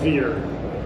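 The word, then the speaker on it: Veere: Involved, but we changed the name to Veer. We're now Veer. Veer? Can you spell it?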